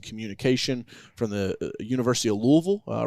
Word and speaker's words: Louisville: She's like, "Louville?" I said, "No, Louisville." It's it's all one syllable, you know, and so people That's how you can tell.